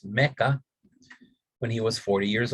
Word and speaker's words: Makkah: So will be Muhammad's personal revelation came while he was meditating in a cave outside the city of Makkah, or what we pronounce today as Mecca, when he was 40 years old.